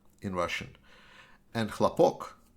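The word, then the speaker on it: хлопок: said in russian and chlapoc actually if you misplace the stress in that word then it becomes lopak hlopak is in russian is cotton that's why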